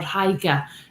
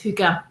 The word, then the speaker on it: hygge: way of living that's called hygge or haiga and whatever your preference is in terms of him pronouncing it but from what everything i read it's hygge and so i will go with that and really interesting concept